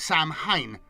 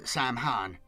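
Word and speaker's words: Saim-Hann: A translators note Sam Han is pronounced Sam Hine not Sam Han.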